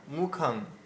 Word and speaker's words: মুখং: স্বপ্না দিদি মুখমচ দেব শরীরে রমহসতে এই মুখং এর জায়গায় মুখাং বললে হবে না মুখাং দেখুন দুটো উচ্চারণ হ্যা একটা মুখং একটা মুখং এখানে বলতে হবে মুখং ঠিক আছে আচ্ছা